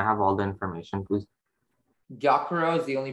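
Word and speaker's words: gyokuro: your word is giacaro um yokoro is this from japanese yes um yakiro can i have all the information please gyakuro is the only pronunciation it's a noun it's from japanese and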